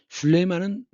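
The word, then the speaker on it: Süleyman: 슐레이만은 터키 발음이고 솔로몬이에요. 구약 성경에 나오지 않습니까? 지혜로운 왕 솔로몬. 그것의 터키식 발음이 슐레이만입니다.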